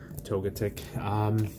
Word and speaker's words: Togetic: toget chick here what every prayer and I pronounce this one togetic weekly tough about this for free it's part